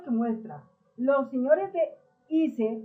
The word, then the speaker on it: ICE: Bueno, así se escribe IS, pero se dice ICE.